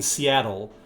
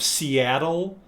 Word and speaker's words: Seattle: Now, do you hear the pronunciation of Seattle? Americans will pronounce double T like D. British people will always pronounce the T.